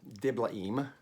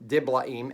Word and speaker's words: Diblaim: took gomer daughter of diblaim remember there are no diphthongs in hebrew although i'll say in like that sometimes but just gives me